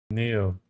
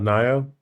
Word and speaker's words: Nioh: Now, maybe we've been saying it wrong the whole time. Neo. Neo. Not Nio.